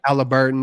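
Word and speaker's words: Haliburton: Halliburton and Sabonis, and oh my God, this was you might as well mortgage their season.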